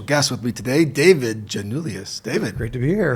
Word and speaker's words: Gianulias: The pronounced of your last name? Gianulias.